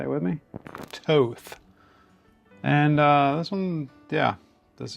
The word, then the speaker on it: Thoth: It's not the Thoth. It's not the Thoth. It's the Towth. Towth. I had to look it up. It is pronounced Towth.